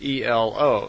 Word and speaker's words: Elo: And semi in their language is E-L-O, so Elo.